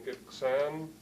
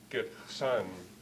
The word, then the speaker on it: Gitksan: stress, primary stress, Gitksan, and in eastern, Gitksan, not Gitksan, but Gitksan, where you have the primary stress.